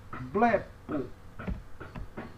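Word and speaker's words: βλέπω: Essa próxima palavra aqui nós temos é a palavra blepo. Percebe? Ó, beta, lambda e epsilon. Blé, blé. Pi e ômega, nós temos então po. Então, primeira sílaba é acentuada, blepo, blepo.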